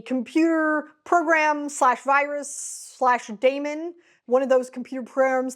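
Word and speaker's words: Daemon: Daniel Suarez's Damon series now realized that this might be pronounced demon but it's spelled Damon so I'm going to say Damon this duology consists of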